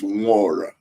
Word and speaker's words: Nwora: My name, by the way, my name is Nwora. Is an Yoma. Nwora is an Igbo name. N is silent.